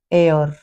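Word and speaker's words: heir: H silent हो जाएगा इस स्पेलिंग को देखें आवर आनर और एयर इनमें यदि एच के बाद ओ या ई आ जाए उसके बाद फिर एक वावेल हो तो हम एच को साइलेंट कर देंगे तो जी एच जी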